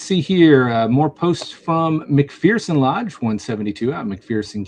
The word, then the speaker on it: McPherson: I don't know about McPherson County Sheriff's Office. Uh boy, I'm pronouncing that wrong, aren't I? It's McPherson. I'm I'm Cuz there's no fear in McPherson.